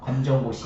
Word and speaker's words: 검정고시: Well, the good news is we now accept, correct me the pronunciation, 건전구시? 검정고시.